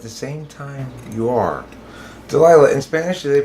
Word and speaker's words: Delilah: just more of like how you would imagine someone who has an accent saying Delila it's not as like like um like the D is softer for sure because like when they pronounce their D's it's more like a like a the sound it's it's a lot softer I think it's prettier my middle name well